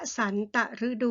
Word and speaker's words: วสันตฤดู: นะ คะ อ่ะ อ่า วสันตฤดู เห็น ไหม คะ คำ อ่าน ว่า วสันตฤดู ใน ที่ นี้ หมาย